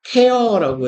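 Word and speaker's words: tear: and 이거 뭔 뜻이에요?음 음, 발음은 테어라고 해 주세요. 어, 여기에서 태ar은 찢다, 부수다, 무너뜨리다.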